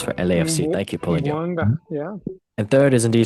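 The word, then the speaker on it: Bouanga: Can someone please pronounce this? I keep Boanga with 33 goals for LAFC. Thank you, Paulinho. Boanga, yeah.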